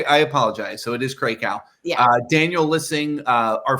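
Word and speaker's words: Krakow: I gotta say we have always pronounced her name wrong cow no it's Crow I know but I like krackow because that's how you say Brian CRA out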